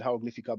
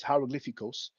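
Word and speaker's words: ἱερογλυφικός: hieroglyphics from Greek hieroglyphicos so I think I said hieroglyphica but it's hieroglyphicos um of Egyptian writing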